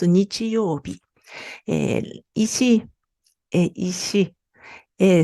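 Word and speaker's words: 日曜日: Et ensuite, et par rapport donc, même quand j'ai différentes prononciations, par exemple, celui-là, bon, ce mot, c'est dimanche, et on prononce nichiyobi.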